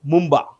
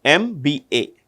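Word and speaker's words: Mbumba: president of Namibia nalo Mumba yes n a n g o l o I repeat n a n g o l o nalo Mumba m b u MBA MB U MBA which Ministry has signed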